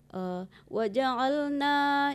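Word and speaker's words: وَجَعَلْنَا: Kemudian seperti yang disampaikan Ustaz Yuni Maha tadi, waja'alna itu jangan dipanjangkan, dia langsung tasdid ke nun ya.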